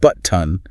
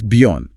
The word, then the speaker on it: button: The glottle stop is basically a tiny pause or a catch in your throat that replaces a t sound.